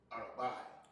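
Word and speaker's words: ארבע: And we got for four, how do we pronounce that word? Yeah, Arabai.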